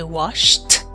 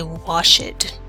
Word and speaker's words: washed: we do that pronunciation we say washed and we do not say wash it right so if somebody